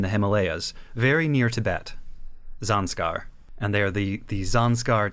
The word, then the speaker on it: Zanscare: the Japanese zanar so like zanskar which is the name of an actual real world region in India in the Himalayas very near Tibet zanskar and they're the the